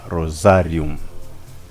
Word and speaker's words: rosarium: rozari takatifu tunasema neno kwanza rozari lenyewe ni neno la kilatini ambalo linatamkwa kama rosarium. Na wanavyosema rosarium kwa kilatini wanamaanisha lile ua la waridi.